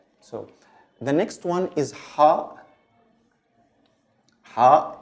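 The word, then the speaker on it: ح: The pronunciation is a little tricky. I know it's a little difficult because it doesn't exist in many languages, but it's like you're cleaning a glass. It's like ha.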